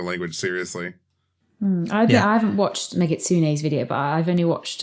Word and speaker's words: Megitsune: The reason that you have the k sound at the beginning of kitsune, but g in Megitsune, because it's a compound, and if you have the second part of the compound gets a voiced consonant at the beginning.